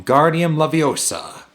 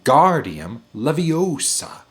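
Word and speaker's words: Wingardium Leviosa: much more luck when guardian Leviosa he waved shouted waving his long arms like a windmill you're saying it wrong Harry heard Hermione step it's ring guardium Leviosa make the gar nice and long you do it then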